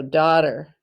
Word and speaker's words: daughter: that tricky g h now the word daughter the duh makes the sound of d like always the a-u-g-h makes the sound of short o you hear the t and then er you hear the er sound daughter but it's spelled t